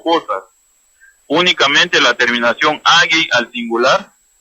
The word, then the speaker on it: agai: Palabras cortas con el sufijo agei en idioma Garifuna es a, g, a, i. Ya en su pronunciación es agei, lida liriduno, agei.